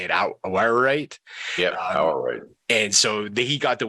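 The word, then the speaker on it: Awaruite: Yeah, Awarite.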